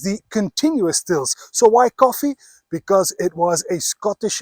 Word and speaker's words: Coffey: And when I say coffee, I do mean it spelled like this. So it's got absolutely nothing to do with that black drink you kickstart your day with every morning.